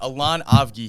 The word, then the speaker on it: Allon Avgi: be yeah soon to be so we got elan ovgi here i pronounced your name correctly right on the money